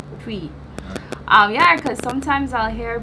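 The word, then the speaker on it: Twi: is so well connected and similar to the tree. Is that how it's pronounced? Tree. P. Yeah. P. T. I can't even say it properly. T. Twee.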